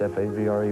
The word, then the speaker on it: Favre: It's Favre, right? Favre. It's, I don't know. You know, it's hard to explain. It's F-A-V-R-E, but it's Favre.